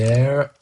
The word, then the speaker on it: heir: Do you pronounce it air or hair or English is weird sometimes, so I have no idea. Let's see. Air. Air. Air. Air. Okay. So, air.